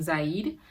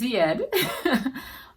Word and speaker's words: Zied: I think I said his name wrong in my last video. I was saying Zaid. It is Zied, but I was pronouncing it incorrectly.